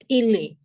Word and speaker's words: est: Il est. Il est. Here, the last letter T is silent. So that is il est.